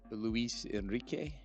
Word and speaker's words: Luis Enrique: I did not know that Luis Enrique, is that how you Yes, pronounce sir. it? Yep. Did I do it right? Yes, sir. You did. You had the inflection and the R and everything.